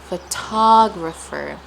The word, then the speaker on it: photographer: T photographer photographer photograph photograph photographer photographer. So we stress the do and photograph and the to photographer. So the stress shifts to the second syllable in photographer and the stress is